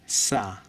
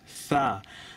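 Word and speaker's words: ث: বাঙালিরা এটা উচ্চারণ করে সা। সা বলতে আরবিতে কিছু নেই, মানে এই ওয়ার্ড হচ্ছে সা। আপনি থ আর শকে যদি একসাথে উচ্চারণ করেন, আপনার যে মানে শব্দ বের হবে ওইটা হচ্ছে সা।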